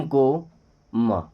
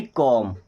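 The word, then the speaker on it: comb: केवल पढ़ा जाएगा एम को म।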